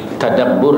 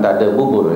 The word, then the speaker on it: tadabbur: jawabannya orang yang membacanya dengan tadabur tadabbur bukan Tad buubur ya jangan salah dengar ya tadabbur maknanya kita sudah